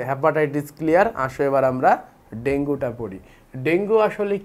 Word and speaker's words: ডেঙ্গু: থেকে আমরা যেটা জানলাম ডেঙ্গুর প্রকৃত উচ্চারণ ডেঙ্গু এটা একটা ভাইরাস ঘটিত